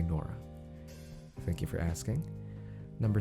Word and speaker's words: Nora: It's Nora. Well, in other countries, they probably pronounce it a different way, but for me, I say Nora.